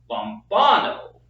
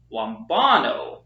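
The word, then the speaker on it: λαμβάνω: We have lom, bon, amen, but the emphasis is not on this syllable, it's on the second syllable, lombano, lombano, because again we have the accent on the second syllable.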